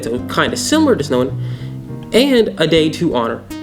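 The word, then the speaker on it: Samhain: 2,000 years ago with the Celtics and their fun holiday called Snowan, weird pronunciation, weird spelling, believed on November 1st, which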